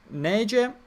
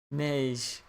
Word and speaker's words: Neige: 2 new original characters, Fuuka and Neige, as well as Kirito.